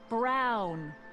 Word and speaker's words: Brown: to a te that's EMT Brown rhymes with clown which I'm beginning to